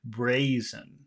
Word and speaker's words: brazen: the braen okay and where is the big syllable in that word brazen the first brazen bra bra Brazen how about the word